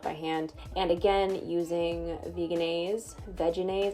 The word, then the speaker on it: Vegenaise: hand and again using veganese vegenaise i think it's technically pronounced vegenaise but i think vegan is sounds so much better added a bunch of